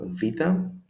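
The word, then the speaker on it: Βήτα: The pronunciation is always an A as in apple, alpha, apple. Number 2, Vita, although it is the same, we can say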